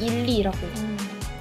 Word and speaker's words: iLy: 제목이 그러면 ILY가 I love you를 줄이고 I love you. you를 줄이고 발음대로 읽으면 일리라고.